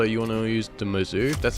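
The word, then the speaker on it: Mozu: And also, you want to use the Mizzou, that's how you pronounce it, and just high caliber and long barrel until it gets to long barrel too.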